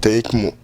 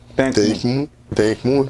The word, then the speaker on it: Tinhï Kmou: Et comment ça se prononce? C'est Tinkamou. Tinkamou, c'est l'ancien monde, comme tu viens de le dire.